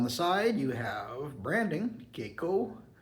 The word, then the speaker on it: Keko: This is Keko or Keko. Keko or Keko. Rhymes with gecko, like the lizard.